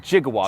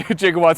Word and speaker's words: gigawatts: 1.21 gigawatts of electricity, yes. So with a soft G in the film.